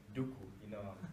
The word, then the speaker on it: Duku: African name is Duku, and you pronounce it like like Duku, like Star Wars Count Duku.